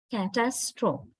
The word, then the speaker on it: catastrophe: Now, first word pronunciation, catastrophe. Catastrophe. Actually, we give heaviness, right? This a sound, the syllable, the second syllable is quite strong. Catastrophe, we say.